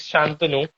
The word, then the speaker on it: Shantanu: Shantanu, ¿se pronuncia your name? Shantanu? Shantanu is Shantanu.